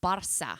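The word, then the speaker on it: Barça: He says it's pronounced Barca. I know. I call it Barca.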